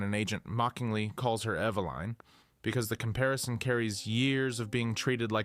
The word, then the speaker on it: Eveline: Eveline Eveline, pronounced E-V-U-L-I-N-E, is not born into a family.